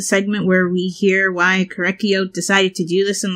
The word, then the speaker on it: Korekiyo: the culprit behind these murders it's correct you korekiyo like that thing pronouncing I think I've been pronouncing it wrong